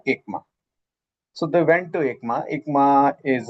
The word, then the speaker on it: ECMA: In short we say we pronounce it as ama.